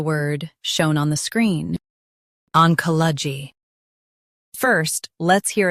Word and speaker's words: Oncology: Oncology. Stress ka and keep g light.